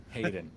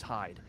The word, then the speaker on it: Hayden: as derrick hayden hayden i always say his name's hyde i was the other day i was trying to look him up on facebook for travis and i was looking up hyde sorry hayden anyway so that's just how